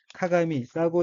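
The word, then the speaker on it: 鏡: 다음 어휘의 한자는 거울 경자이고 일본어로는 카가미라고 읽으며 카가미는 거울이란 뜻입니다. 다음 어휘는 한자가 한국어로 불만이고 일본어로는 후만게나라고 읽으며 후만게나에서 게는 뭐뭐 듯한 모양, 뭐뭐 한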